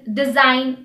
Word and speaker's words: design: Examples are align, foreign, design, champagne, sign.